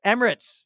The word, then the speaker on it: Emirates: I can't pronounce that either. The Emirates? Emirates, yes.